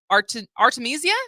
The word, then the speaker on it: Artemisia: But first of all, congratulations on winning the Charles Ives Opera Prize for your new opera, Artemisia. Did I pronounce that correctly?